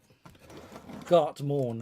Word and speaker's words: Gartmorn: Gertmon is, but it's not Gertmon. I keep calling him Gertmon. He's going to get pissed off at me. Keep doing that. But Gartmorn, that's it.